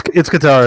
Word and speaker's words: Katara: So how do you pronounce it? Just correct me because we can move on. It's Katara.